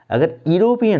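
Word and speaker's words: European: sound पर नहीं जाते सिर्फ लेटर देख लेते हैं यूरोपियन स्पेलिंग होती है देखिए यू आर ओ पी ए N word शुरू है लेकिन उसका प्रनंसीएशन क्या हो रहा है यूरोपियन यूरोपियन होता इसका ए का प्रयोग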